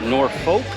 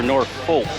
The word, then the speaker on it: Norfolk: everybody's dying to know is it nor fol or nor folk it's both actually the town is spelled